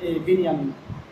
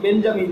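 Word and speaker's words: בנימין: আর তারা হলো এই নবী হযরত ইয়াকুব আলাইহিস সালামের দ্বিতীয় স্ত্রীর সন্তান হলো ইউসুফ এবং বেনিয়ামিন। এই জন্য ইসরায়েলের প্রধানমন্ত্রীর নাম কিন্তু বেঞ্জামিন না, তার নাম হলো বেনিয়ামিন নেতানিয়াহু।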